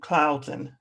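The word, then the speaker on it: Closen: a quick review about professor michael closing who cloudson is pronounced clouds and professor michael clouds and who is the author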